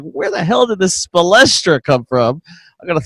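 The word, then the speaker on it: Spoelstra: Oh, he's not spe, he's spo.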